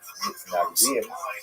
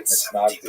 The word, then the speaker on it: Mitnagdim: He is the acknowledged head of the movement known as the Mitnagdim, or the Misnagdim, as it would be pronounced in Ashkenazi pronunciation.